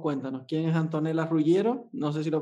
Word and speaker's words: Ruggiero: que por favor cuéntanos quién es antonio las rugieron no sé si lo pronunciado bien y a qué se dedica muy